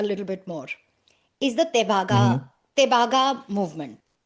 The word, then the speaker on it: Tebhaga: It's t e b h a g a. To be very honest, I I feel like I'm not pronouncing it correctly, but I don't know how else to do this. Tebhaga is what it sounds like to me.